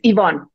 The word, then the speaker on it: Yvonne: Did I pronounce that right? It's Yvonne.